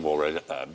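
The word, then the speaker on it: Waugh: I was just checking whether or not you'd remembered not to mention It's not wars. pronounced like that, is it? It's Evening Waff. No, if only it were.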